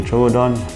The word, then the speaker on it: Troodon: basically a dinosaur so you can either say trovodon trudon i say trudon yeah tomato tomato all right so what we